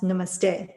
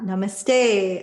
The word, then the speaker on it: Namaste: from so for example learning that Namaste is pronounced Namaste not Namaste and to make a pun or a joke